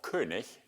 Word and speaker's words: König: And I asked him, is it König or König? And he said, König. Yeah, but it's the German word, and they pronounce it faithfully.